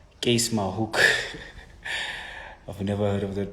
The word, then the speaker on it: Keiskammahoek: to pronounce this name, Keiskammahoek. Was it? What is Keiskammahoek? Where is this place? It's Keiskammahoek. It's Afrikaans slash German, actually, since Afrikaans does derive from German.